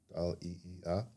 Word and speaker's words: Dahliia: So, Dahlia, it's spelled like the flower, but with 2 I's. So, Dahliia.